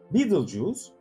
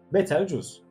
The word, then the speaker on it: Betelgeuse: Betelgöz, Betelgeuse, Betelgeuse. Farklı telaffuzlarıyla karşılaştığımız yıldızın orijinal adı ilk olarak Arap astronomlardan geliyor. Devin omzu anlamındaki Bat al-Cawza o yıllardaki birkaç çeviri hatası nedeniyle İngilizceye Betelgeuse olarak çevrilmiş. Türkçe'de Betelgöz olarak adlandırıyoruz.